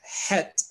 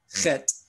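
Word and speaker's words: חית: Now, remember, we talked about two interesting letters in the Hebrew language, which is het, which is mispronounced today by Jews as chet.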